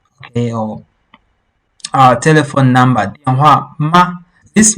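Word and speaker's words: 吗: It doesn't have any tone. That's why, there's no special tone while we're pronouncing. This ma. Just say ma and you're good to go.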